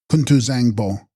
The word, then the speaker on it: Kuntu Zangpo: And text: Kuntu Bzyangpo, pronounced Kuntu Zangpo, Sanskrit Samantabhadra, all good.